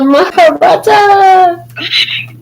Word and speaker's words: Mahabharata: Maraha, Harata, or Mahabharata. The Mahabharata. yes, you're Perfect.